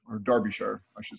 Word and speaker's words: Derbyshire: is with us today all the way from Derbyshire or Derbyshire I should say you can you pronounce that for sharing don't be [ __